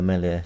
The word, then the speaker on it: Meslier: Meslier. Is that how you say his name? Yeah, Meslier. I think you silent S, I think.